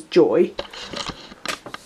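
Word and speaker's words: Joie: want is a joke it's spelt Jay oh I e but it's actually said as joy but that's what I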